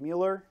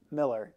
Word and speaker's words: Mueller: First and foremost, my colleagues in education here, Andy Ament and Gabe Mueller. And I said, I did it. Miller. It's spelled like Mueller, but it's Miller.